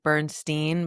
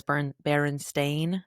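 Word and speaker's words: Berenstain: How everyone talks about it being Bernsteeen, but it's Burn Baron Stain.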